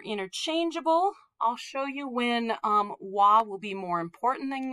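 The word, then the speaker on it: は: in front of me it's always going to be pronounced wah but spelled ha when you're typing on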